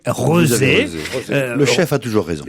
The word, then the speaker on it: Rezé: Rezé, R-E-Z-E, alors, peut-être ça se prononce Rézé, mais ça s'écrit R-E-Z-E. Donc moi je pense Rezé. qu'on dit Rezé.